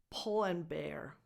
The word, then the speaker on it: Pull & Bear: so it's pronounced po the vowel is the same that you have in book not in school so it's a short vowel pull Pull and Bear